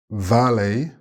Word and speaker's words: valet: Valet, remember the silent T?